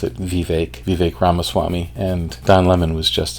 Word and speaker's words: Vivek Ramaswamy: interview if you can call it that of Vivek ramaswamy and that's how you pronounce it Vivek Vivek ramaswamy and Don Lemon was just an absolute 88